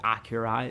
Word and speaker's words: Akira: got like heavy um Akira Vibes or I think like Acura is the correct way to say that but sounds kind of pretentious when you say it like that um yeah it's just